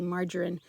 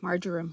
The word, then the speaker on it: marjoram: I always want to say margarine, and that's not right. Marjoram, I think, in corners too, because I use both of those as seasonings for our pork.